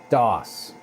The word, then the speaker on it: DOS: DOS.